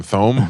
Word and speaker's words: Thome: And I used to pronounce all the names wrong. Oh yeah, I called sure. Jim Tomey, Jim Thome.